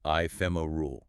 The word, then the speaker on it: ephemeral: Another fascinating word is ephemeral, pronounced ephemer rule.